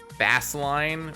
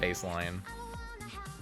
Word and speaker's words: Bassline: Bassline or bait? No, that's bassline. That's not baseline. You cannot convince me this is pronounced baseline.